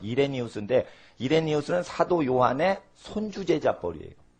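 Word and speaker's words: Irenaeus: 미국 사람은 아이로나이우스 이렇게 발음을 하지만 우리나라 사람은 이레니우스인데 이레니우스는 사도 요한의 손주제자뻘이에요.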